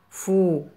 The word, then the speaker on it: fou: F avec le son ou se prononce fou.